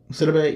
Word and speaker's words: Sidibe: Gabriel Sidibe. Gabriel Sidibe. Sidibe, yes.